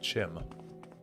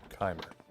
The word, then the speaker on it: Chimer: kimer and Kim interesting I always thought that it was uh Chim I thought that was the colloquial pronunciation welcome friend I feel as though I should know supposed to be said hard K okay Dev set kimer